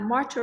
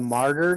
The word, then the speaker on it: martyr: be a martyr March how do you pronounce that uh martial right no as a as a martyr do you mean yes right yes that's a good pronunciation they became a martyr